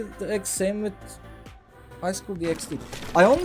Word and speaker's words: DxD: DxD, you're supposed to pronounce the X, really?